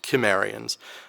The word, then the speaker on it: Cimmerians: that should be pronounced Cimmerians. Okay, well, the C can be either hard or soft.